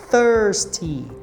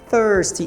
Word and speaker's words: thirsty: mencionei várias vezes antes o th sempre a gente vai ter que colocar ponta da língua entre os dentes então vai ficar thirsty thirsty esse I vai ter